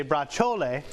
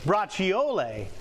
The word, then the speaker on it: braciole: some new information some some things say in italian you say bra chole some other ones say braciole is but but either